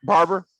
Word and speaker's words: Barber: i pronounce your name how do i pronounce it like regular barber barber yeah that's fine barbara can i call